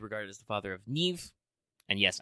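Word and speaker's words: Niamh: as the father of Neeve and yes I know that's pronounced with the V sound even though it ends with an m beloved of the hero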